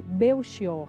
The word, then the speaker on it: Belchior: Sim, é Padre Belchior a pronúncia.